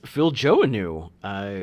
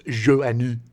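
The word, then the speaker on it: Joanou: And a lot of you probably have been pronouncing it Phil Joannou, as I have been for the last 40 years. Yeah. Not knowing that it was Joannou.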